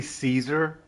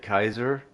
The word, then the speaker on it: Caesar: Sometimes security needs a I killed Kaiser or an engineer needs some menntats. Heck, Rad X is playing Universal. It's It's technically Caesar, but they pronounce it Kaiser.